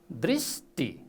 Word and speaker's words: दृष्टि: दृष्टि हो, दृष्टि। ती होइन, त होइन, ट टी, दृष्टि।